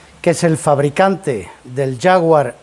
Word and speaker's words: Jaguar: es el fabricante del jaguar en todos los idiomas se pronuncia ya howard porque sólo en español decimos jaguar porque la jota gutural la hemos heredado de los árabes y los idiomas del